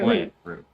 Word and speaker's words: Mweru: bitch about Mwe is one Mwe? syllable. Mwah. Ru. Mwe. Ru. Mweru. Yeah. Mwe. Mweru. Hey!